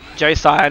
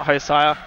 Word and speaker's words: Josiah: Josiah, not hosire. But I get why you get it mixed up. Yeah. Depending on which part of the world you're from, I think can change how it's said.